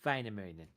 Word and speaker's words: Väinämöinen: The umlauted A is like like apple. And of course, umlauted O has more like an I'm guessing, kind of sound. So it's like Väinämöinen, or something like that. I'm butchering it really bad. In Finnish, the accenting is always on the first syllable. So it would not be like Väinämöinen or whatever. It is Väinämöinen.